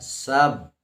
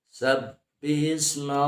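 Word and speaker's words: سَبِّحِ: Ya, sab. Ya, itu ya. Ada tasydid atau ada siddah di sana. Sab dengan dua buah bibir ditutup. Sabbihisma rabbikal a'la.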